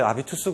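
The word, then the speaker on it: habitus: 일단은 이제 아비투스 개념에 대해서 우리가 이제 숙고를 하는 건데 이 아비투스는 이제 이 불어로 읽는 거잖아요. 불어가 H가 묵음이잖아요. 불어에서는.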